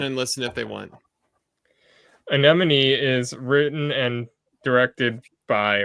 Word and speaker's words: Anemone: Todd's number one overall pick, his number one most anticipated, and that is Anemone. I said it right. Anemone.